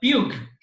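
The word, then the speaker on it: Pugh: of rows and columns is called a few matrices not a pock metrics as maybe some of you would pronounce it it's a few metrics what compute might which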